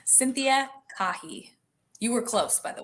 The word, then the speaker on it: Caughie: simple every single platform it's my name cynthia kahi you were close by the way kirk oh no did i mispronounce it it's okay it's okay a lot of people say but it's it's okay i need to get